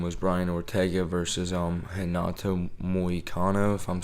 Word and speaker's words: Moicano: So, the perfect example of that I can think of is, even though he finished them, was Brian Ortega versus Renato Moicano, if I'm saying it right.